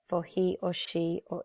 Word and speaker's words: ho: We'll try this one together. All right. So io, the conjugation is o. And I say o because we do not pronounce that H.